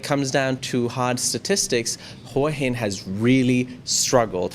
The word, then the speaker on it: Hua Hin: How do you pronounce Hua Hin? What do you say, Natty? Hua Hin. Hua Hin, Jay? Yeah, Hua Hin. Hua Hin. There you go. Hin. To Thai speakers. That's from the horse's mouth, as they say.